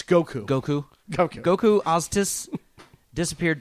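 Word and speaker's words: Gökhan: I don't know how to pronounce this name. G-O-K-H-A-N. Gokan? Gokan? It's Goku.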